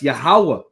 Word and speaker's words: Yahweh: Is it Yahuwah? Is it Yeshua? You know, no, it's Yahweh, Bahashim Yahweh Shai.